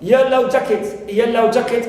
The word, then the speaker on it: yellow jacket: Also for the word of yellow jacket as one word, it represents that insect, clear, which looks like a bee, right, like a bee, yellow jacket as one word, as a compound noun, I stress the first element.